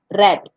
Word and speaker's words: read: past tense is different reed becomes red like the color red cell becomes sold by